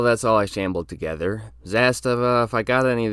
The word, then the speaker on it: Zastava: Zastava, if I got any of these wrong, please tell me all the designations so I can fix my mistakes. It's pronounced Zastava, not Zastava.